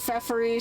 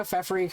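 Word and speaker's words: Feferi: Some people pronounce it FFury. Some people pronounce it ferryy. I'm a FFY kind of person.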